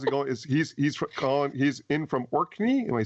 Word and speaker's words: Orkney: He's in from Orkney. Am I saying it right? Yeah. Orkney, yep, that's way up in the north.